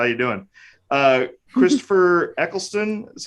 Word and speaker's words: Christopher Eccleston: Christopher Eccleston is how you pronounce it.